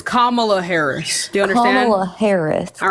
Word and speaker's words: Kamala Harris: Yes, it's Kamala Harris.